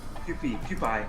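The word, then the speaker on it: Kewpie: Mayo yeah what is it pie PE cheie Q peie yeah Q man that's delicious it's spelled k e w p i e oh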